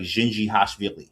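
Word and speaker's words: Dzindzichashvili: It's not very like I remember one guy and uh shout out to Roman his name his last name is pronounced like Gingi Hashilli he's from um Georgia the country not the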